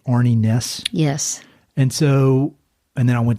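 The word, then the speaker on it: Arne Næss: And I noticed on the dedication, you dedicated it to, I want to make sure I'm pronouncing this right, Arnie Næss.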